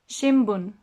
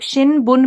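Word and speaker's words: 新聞: इसको जब प्रोनाउंस करेंगे तो कुछ इस तरीके से करते हैं, शिमबुन। क्यों, क्योंकि ब से पहले आ गया, ब से पहले आ गया, तो बोलते समय शिमबुन बोलेंगे। आप शिनबुन भी बोलेंगे तो भी कोई गलत नहीं है, उसमें समझ आ ही जाएगा।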